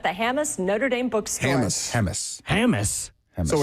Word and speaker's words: Hammes: Hammes.